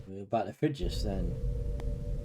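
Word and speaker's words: Frigis: from Chancellor Lorac of fridges. Oh, on screen. Oh, now I get why you said fridges. Yeah. Yeah, it's pronounced in the same way as the refrigerator fridges.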